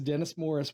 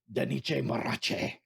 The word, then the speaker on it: Dennis Morris: And number 2 is Dennis Morris. Wait till I'm gone. But my wife can only remember him by the incorrect pronunciation of Daniche Marache. She said you have to roll your R's.